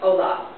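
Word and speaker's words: hola: h o l a you don't hear the H it's Olaf the J actually makes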